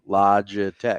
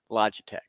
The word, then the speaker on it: Logitech: to anything you saidane it's pronounced logic so Logitech oh okay guy graphic